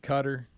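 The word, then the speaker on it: Qatar: talking about the World Cup yeah don't you pronounce it cutter that's where they're at yeah but Budweiser was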